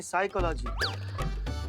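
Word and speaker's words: psychology: तो साइकोलॉजी नहीं साइकोलॉजी P silent होता है।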